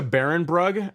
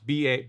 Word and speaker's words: Barenbrug: Look into Behrenbrug. It's spelled like how it sounds, Barenbrug.